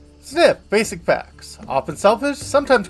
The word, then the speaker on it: Zniw: pronounce it and yeah they said I like sniff but with a z diet herbivore group uh